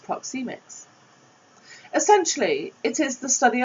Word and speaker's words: Proxemics: Pronounced Proxemics.